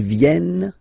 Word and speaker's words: viennent: E-N-T, you don't pronounce them. Ils viennent, elles viennent.